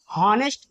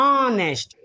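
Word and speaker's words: honest: हॉनेस्ट। लेकिन हॉनेस्ट इसे नहीं पढ़ाया जाता है। इसे क्या पढ़ते हैं? ऑनेस्ट। यानी इसका उच्चारण वोवेल से हो रहा है। यह वोवेल साउंड दे रहा है।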